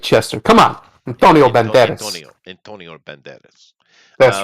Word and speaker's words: Antonio Banderas: Antonio Banderas.